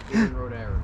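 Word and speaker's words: Iarnród Éireann: you think, but obviously the company is called Iarnrod Eireann. Iarnrod Eireann, isn't it? How do you say it? Iarnrod Eireann. Iarnrod Eireann, there you go. Forgive my pronunciations, guys, as you know, I'm not from here, so.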